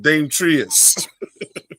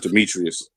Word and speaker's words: Demetrius: Dame Trius. No, it's Demetrius.